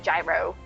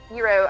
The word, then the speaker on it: gyro: you got a gyro i believe that'll tell you it's properly pronounced probably wrong but i know it's not gyro hero i swear you got